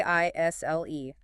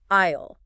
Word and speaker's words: aisle: it is spelled A I S L E. Isle. But when you say it, the letter E is completely silent. You do not pronounce the S at all.